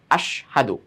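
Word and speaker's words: أشهد: পড়ি এইযে ইয়াশহাদু এখান থেকে একটা শব্দ কি আশহাদু তো অনেক সময় উচ্চারণটা এমনভাবে হয়ে যায় যে হাটা যে এখানে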